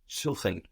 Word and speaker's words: suchen: Suchen. Suchen. So an S vowel syllable gives us a Z sound.